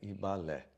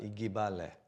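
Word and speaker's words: Igbalé: Gente, o G e o B, eles não pronunciam separados, é Ibalé, tá? Então, quando a gente for pronunciar, evitar de falar Igibalé, tá?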